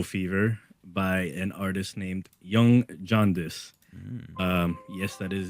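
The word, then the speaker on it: Yonge: album called Yellow Fever by an artist named young jaundice um yes that is his name it's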